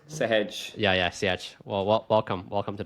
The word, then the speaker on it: Sehaj: Yeah, like hedging a risk, Sehaj.